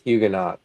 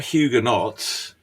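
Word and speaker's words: Huguenot: They think it's Hugenot. They're not Hugenauts. Hugenaut. That's typical. I never heard anyone call them hugenauts. It's O like ot in French is hugeno.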